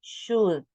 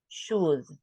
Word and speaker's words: should: that we were practicing we don't pronounce the L is should should and here we have